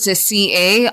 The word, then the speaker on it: carrack: Your word of the day is spelled C-A-R-R-A-C-K, spelled C-A-R-R-A-C-K.